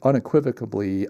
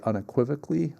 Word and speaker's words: unequivocally: Uh but but unequivocably I would say unequivocally unequivocally I think I added a syllable in there that I I take an Orthodox Christian perspective on homosexuality and marriage, etc.